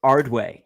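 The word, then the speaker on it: Ardoin: the catchers Silas Ardo is it Ard how do you pronounce his name I I saw an article the other day I think it's ardway silus ardway does like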